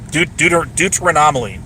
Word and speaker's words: deuteranomaly: It's the anomaly one. Deuteranomaly. There it is. That's how you pronounce it.